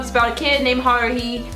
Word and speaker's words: Haruhi: Orange High School Host Club is about a kid named Haruhi. I don't ever say it right. Haruhi. That's how I say it, with an accent, not Haruhi. It's Haruhi, and she joins, or she